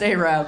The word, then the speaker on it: Arab: if you had uh spelled arab pronounced arab by the way don't it up they'll kill you desperately is called arabella